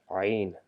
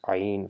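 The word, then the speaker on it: عين: Ain, ain. The middle portion, you know where the Adam's apple is located, just the middle part of your throat. So that's the place where we pronounce ain from.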